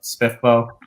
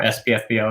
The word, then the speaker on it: SPFBO: fantasy there you know spiffbow or spfbo is actually how i originally pronounced it and um i've i've gone over to spiff bow just because as justin said that's that's the way we're apparently supposed to pay it and i i'm not